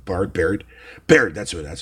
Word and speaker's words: Baird: barbarian how have you say his name Bart Baird Baird that's what that's how